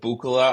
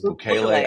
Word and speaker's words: Bukele: I thought it was Bukele. I don't know. Bukele, whatever. I don't know. Anyway, so he's in there, and as I say, if we said, hey, send him back, it rhymes with should ukulele.